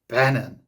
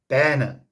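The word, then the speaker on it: benyn: Okay, now the word for woman rhymes with lemon and is bennen. Okay, bennen.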